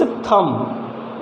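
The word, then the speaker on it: thumb: है होता है तो थम नहीं है इट्स थंब इट्स थंब अगर थंब बोलते हैं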